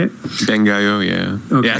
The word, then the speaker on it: Bangai-O: Bangai-O, yeah.